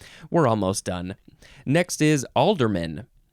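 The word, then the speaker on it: ealdorman: almost done next is alderman you'd think Alderman is spelled with an a not in this case it's e-a-l-d-o-r-m-a-n alderman noun from before the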